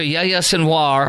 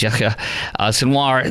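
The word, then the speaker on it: Yahya Sinwar: exerpt of it after yayya senoir or the actual name you pronounce is yya senoir the man responsible for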